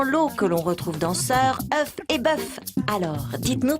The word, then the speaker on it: sœur: À la fin du Moyen-Âge, ces diphtongues se sont réduites à une voyelle simple et on a prononcé sœur. Mais comment écrire ce son E? Le plus souvent, on le transcrivait par EU, comme dans fleur. Mais pour certains termes, les